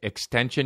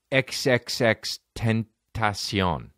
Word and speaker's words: XXXTentacion: reading about this guy except by the way extension you know how everyone calls him extension the rapper you know it's xxx 10 ASEAN that's how you pronounce his name xxx 10th